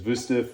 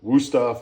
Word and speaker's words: Wüsthof: This is I believe the proper pronunciation is Wüsthof or Wüsthof, as we say in America.